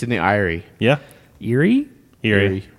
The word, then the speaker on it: Eyrie: It's in the Eyrie. Yeah. Erie? Eerie. Eyrie. I said Erie, yeah.